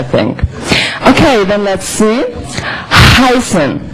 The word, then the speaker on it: heißen: Heißen. Heißen. Again, this letter is two, like two S, it's pronounced very, very sharp and unvoiced.